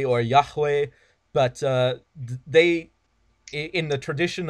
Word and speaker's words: Yahweh: letters that it translates to and people generally pronounce that Yahweh or Yahweh but they in the tradition of how it's